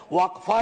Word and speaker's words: वक्फ: इसका इस्तेमाल हो और अलग-अलग लोग इसका प्रोनन्सिएशन अलग करते हैं। कोई वक्फ बोलता है, कोई वफ बोलता है।